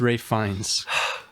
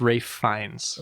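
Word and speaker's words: Ralph Fiennes: fines oh my goodness I believe it's Ray fines it's spelled like Ralph fianz pretty sure that I'm pretty sure that the Google pronunciation guide thinks it's Ray fines we had to lose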